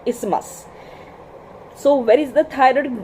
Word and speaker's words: isthmus: The correct pronunciation is isthmus, not isthmus. Isthmus नहीं होता है, उसको isthmus बोलते हैं.